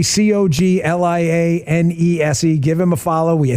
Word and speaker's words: Coglianese: Well, Coglianese, if you need it spelled out phonetically, Coglianese.